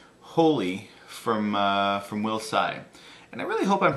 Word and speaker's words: Tsai: from uh from will Sai and I really hope I'm pronouncing it right it's TS AI normally the t is silent so I hope I'm